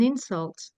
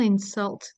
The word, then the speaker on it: insult: So, first example, she took it as an insult and then as a verb, please don't insult the staff. Does is that something you were clear on before or is this something newly presented? I I was I think I was doing it correctly, stressing on the right words, but not knowing that there was actually a rule behind it.